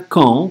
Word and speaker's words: camps: Ни в коем случае здесь губы не смыкаем на «м». Здесь «м» вообще нет. Только «а» носовая. «Кан». «П-с» на конце слов не читается. «Лагери» будет «кан». «Кан». Будьте внимательны, не говорим «кон».